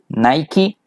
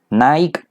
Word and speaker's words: Nike: Spanish spider-man versus Superman Nike versus Adidas by the way the pronunciation it's Nike Naik you're inventing pronunciation it's